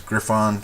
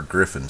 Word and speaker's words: Griffon: to use here is Griffon sepia or Griffin sepia you know it's pronoun it look spelled like it's fine but it's probably Griffin anyway what I'm going to